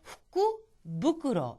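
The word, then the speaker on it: 福袋: 본래 주머니나 봉지는 후쿠로입니다. 그런데 이게 후쿠라는 말과 붙여서 후쿠부쿠로, 이 경우에는 부쿠로로 발음이 나는 거죠.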